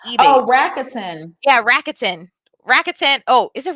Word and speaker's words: Rakuten: So how do you spell that? Like Rakuten? R-A-K. It used to be eBay. Oh, Rakuten. Yeah, Rakuten. Rakuten. Oh, is it Rakuten?